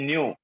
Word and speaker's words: nu: This is नॉट we, this is न्यू। Frequency है ये भी फ्रीक्वेंसी है। फ्रीक्वेंसी को हम न्यू से रिप्रेजेंट करते हैं ना, बताया होगा ना मैम ने। NU, न्यू प्रोनाउंसिएशन होगा इसका, न्यू।